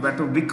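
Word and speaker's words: Matovič: हम normally Matovic बोलते हैं. It's pronounced with a CH.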